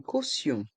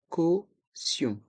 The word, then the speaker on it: caution: Une caution. Une caution. Les voyelles A et U se prononcent O. Caution. Le T de caution se prononce SE quand il est suivi de ION.